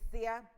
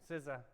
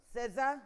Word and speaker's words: SZA: Kendrick Lamar featuring Sia. SZA. SZA.